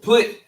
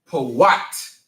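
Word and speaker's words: פוט: But put is called Pawat in the Hebrew.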